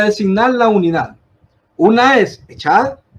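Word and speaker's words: אחד: Dios, es utilizada la palabra hebrea que se pronuncia echad, la cual denota la unidad completa.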